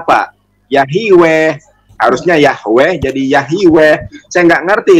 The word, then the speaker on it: Yahweh: jadi yahui yah Iwe nah lussade he Ini bacanya apa yah yg weh harusnya Yahweh jadi Yahweh saya nggak ngerti itu menulis nih